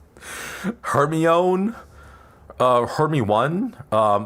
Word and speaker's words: Hermione: a great one because people didn't know how to pronounce Hermione. So, it was just Hermione. Like, oh my god. I remember when the first book came out, none of my friends knew how to pronounce it because we weren't British, right? It was just her own.